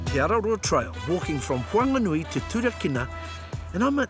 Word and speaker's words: Whanganui: Araroa comes to us, they're saying Whanganui, Whanganui. as we would say Whanganui, but our mita is Right. hugely, just like our geography. So what you're saying is, say it how you say it, but say it with aroha, eh?